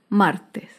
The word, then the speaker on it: martes: tilde es la palabra martes martes se acentúa en la penúltima sílaba pero no lleva tilde porque terminan s martes las palabras esdrújulas